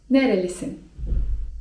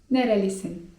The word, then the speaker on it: nerelisin: nerelisin (czyt. nerelisin) Skąd pochodzisz?